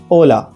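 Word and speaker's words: hola: उदाहरण के लिए हेलो को स्पेनिश में ओला बोला जाता है ना कि होला।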